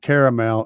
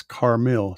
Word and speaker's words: Carmil: And it's not caramel, it's Carmil, Carmil.